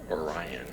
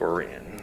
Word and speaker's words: Orion: His brother Oran, I hear I used to call it Orion. Apparently in Missouri it's pronounced Oran.